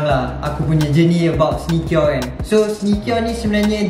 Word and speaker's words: SNECURE: which is called SNECURE, S-N-E-C-U-R-E, pronunciation dia SNECURE.